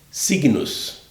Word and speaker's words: signos: Signos em latim, GN se pronuncia NH, signos, da onde vem significado, significação.